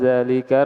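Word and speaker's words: ذلك: Man zalikar rajulul tawilul ladzi kharajal ana minal madrasati. Naam. Zalika, meskipun tulisannya seperti itu, dia za-nya dibaca panjang ya. Ya, zalika.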